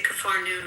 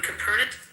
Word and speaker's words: Capernaum: We say Kafar Noon, Capernaum.